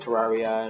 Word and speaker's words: Terraria: Which is what I pronounce it like that because I'm cool. But some people call it Terraria and blah blah blah.